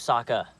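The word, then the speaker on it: Sokka: besides the cheesiest lines my name's Saka rhymes with AA and waka waka for the most part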